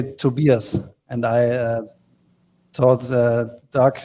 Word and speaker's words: Tobias: in germany you say to beerus and i uh thought doc you just have to think about it's just like uh two beers so two beers and